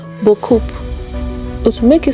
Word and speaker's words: beaucoup: You say the word beaucoup and emphasize that P at the end. Then you say beaucoup.